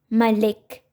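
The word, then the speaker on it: مَلِك: king in this word the second letter lam has a kasra the original sound of the letter is la and with kasra which is e sound it will be pronounced as li the first letter of this word meme has fatha on top and it will be pronounced as ma therefore malik where kya has a second and the original sound of that letter will be pronounced malik next we have kitab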